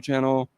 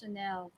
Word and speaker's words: Chanel: Love your channel. That's pronounced Chanel. Chanel. You said channel?